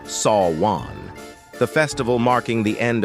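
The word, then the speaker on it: Samhain: ago with the Kelts who celebrated Sam Hine pronounced sa Juan the festival marking the end of harvest and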